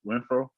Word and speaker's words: Renfrow: We are starting Hunter Renfrow. What's his name? Renfrow? You said it right. Yeah, you got it.